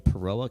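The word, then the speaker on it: Peoria: International Airport General Wayne A Downing it's in peroa County Illinois that's how you say it absolutely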